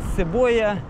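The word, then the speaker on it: cebola: Кстати, лук по-португальски цебоя. Цебоила, то есть как цибуля. И пишется так же.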